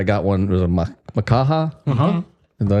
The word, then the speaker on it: Makaha: It was a Makaha. Uh-huh. Did I say it right? Yep. Makaha, and that was my first one.